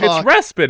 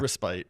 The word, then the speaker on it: respite: Le it's respit, isn't it? It's respite but need a respite.